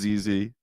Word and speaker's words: ZZ: I both mispronounced and misgendered ZZ last time. His name is ZZ.